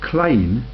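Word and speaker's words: Kline: Wonder Kevin kleene and kleene is the pronunciation yeah are you beginning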